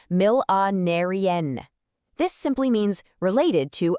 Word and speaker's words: millenarian: Another advanced peak performance word is millenarian, pronounced mill-a-narian.